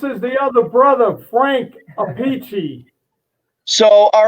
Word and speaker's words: Appice: He says, "How do you spell that?" So I spelled it Appice. He says, "My boy, your name is Appice."